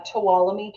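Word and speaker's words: Tuolumne: with madira County yes that is correct uh talami County like f me toam yeah talami county is uh represents the northern entrance so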